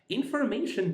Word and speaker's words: information: If we take the word information, information, the syllables in this word don't have the same value, but actually, -mation is -ma- is louder than the other, so you will hear information, right? Not information. Information.